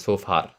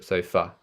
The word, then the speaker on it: sofa: So in the Indian accent, I've also heard this being pronounced as sofa, with the R sound at the end of sofa. So we want to change that into sofa.